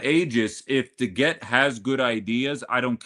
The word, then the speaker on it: DeGette: DeGette is, I believe, is the correct way to say it.